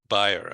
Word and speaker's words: Bayer: You pronounce it Bayer, I guess, B-A-Y-E-R.